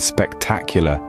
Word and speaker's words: spectacular: spectator spectacle and spectacular in spectator the stress is on the first syllable spectator moving on to spectacle the stress remains on the first syllable spectac but when we say spectacular the stress shifts to the second syllable spectacula even though these